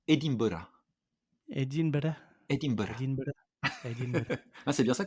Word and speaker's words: Edinburgh: Alors, si tu me permets de te recorriger, une fois n'est pas coutume, on l'avait fait sur l'Australie, sur la prononciation d'Édimbourg, les Écossais disent Edinburgh.